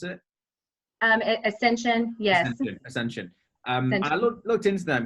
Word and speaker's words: Ascension: to pronounce it, Ascension, is that how I pronounce it? Ascension, yes.